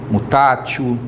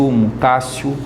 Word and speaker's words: mutatio: A gente escreve emendatio ou mutatio, né? Pode ser pronunciado assim também, emendatio, mutatio, ou emendácio, mutácio.